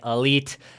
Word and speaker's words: Elyyt: brand new video my name is aka elite e-l-y-y-t is how you spell it just in case you didn't know and